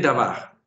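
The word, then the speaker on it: דָּבָר: Miren Davar. ¿Dónde tengo el acento? Para saberlo, primero dividamos en sílabas para que nos acostumbremos. La primera sílaba es ¿cuál? Aquí tenemos la primera sílaba, da. La segunda sílaba es ¿cuál? Va. ¿Dónde tengo el acento? Lo he colocado ahí como para señalarlo. Da y va.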